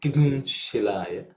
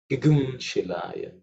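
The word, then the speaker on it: Kimshilaya: be familiar will think isn't it Kigum Shilaya or Kigum Shilaya, as many pronounce. But the reality is that it Anuswara, which is just after Ki, it undergoes a change into while chanting, and especially in the Yajurveda mantra, to Gum. Okay, Gum. And there are many ways people pronounce, but it's actually Gum. Gigum Shilaya is the way it's pronounced.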